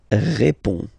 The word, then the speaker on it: réponds: Je réponds. Okay, so you can see that D and S here are not pronounced.